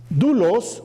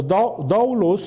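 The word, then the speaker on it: δοῦλος: Pero la palabra en griego es la palabra doulos o doulos, depende de cómo se pronuncie, si pronunciamos la O o solamente la U, doulos, y quiere decir esclavo.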